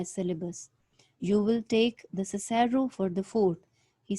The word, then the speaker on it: Cicero: Mr. Weatherby said Cicero, not Cicero.